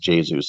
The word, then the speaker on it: Jesus: But Kevin De Bruyne, Raheem Sterling, Gabriel Jesus, it's actually pronounced Jesus, I believe.